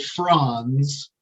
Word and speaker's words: Franz: And so really I should be pronouncing it Franz, because my family name was Franjosa, but everybody says Franz.